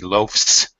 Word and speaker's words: loafs: When I use the verb form with the F, it changes the pronunciation of the S back to follow the rules. It's an S sound. He loafs, eating loaves, Z sound.